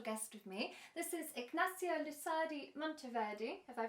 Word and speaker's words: Ignacio Lusardi Monteverde: a very special guest with me this is ignacio lusadi monteverdi have i pronounced it correct hello yeah perfect good and